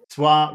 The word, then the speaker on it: swap: swap seats swap seats swap don't forget the P you have to you have to say that P swap seats swap seats